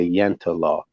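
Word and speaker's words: Jante law: in the Nordic countries called the yenta law and it's spelled like jante like j-a-n-t-e and then law and it's a it's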